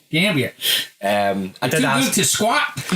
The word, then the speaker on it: Mount Gambier: And what I like to think is pronounced Mount Gambier, but being in South Australia, it's probably Gambia.